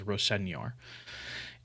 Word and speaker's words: Rosenior: believe he said that that's how he'd like it to be pronounced, is Rosenior.